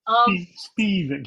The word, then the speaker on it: Spivak: I can never remember how to pronounce it. I'm sorry, Gail. Spivak, yeah.